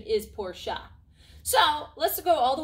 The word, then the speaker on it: Porsche: porsche it doesn't really matter the kernel correct pronunciation is porsha so let's go all the way back to